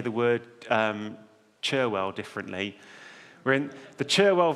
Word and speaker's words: Cherwell: We call it the Charwell once it gets to Oxford. It's odd because it's got an E in it.